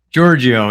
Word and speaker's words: Georghiou: Mario Payne and Matthew is it Giorgio Giorgio is the easy way I pronounce it that's pretty that's easy for English speakers excellent excellent Mario please